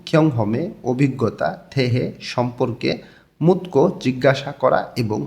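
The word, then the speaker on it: 묻고: নিচে আছে ইউহ্যাং ভ্রমণ, খিয়ং হমে অভিজ্ঞতা, থেহে সম্পর্কে, মুতকো জিজ্ঞাসা করা এবং গো দিয়ে এবং বোঝায়। তধ্বনির বাচ্চিমের পরে গেও কাছে গটা ক উচ্চারণ হবে।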